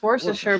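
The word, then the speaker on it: Worcester: So they're Warchester I know it's worer because I've heard people say it or it's something really close to that. Woreser worsher but it's definitely part of it's not being pronounced. Yeah. You got to just kind of skip the middle.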